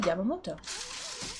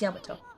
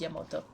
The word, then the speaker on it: Yamato: Or it's Yamato. I said it right. This is a very sacred place for the Oni tribe. It's just Yamato. I'm adding an extra syllable in there.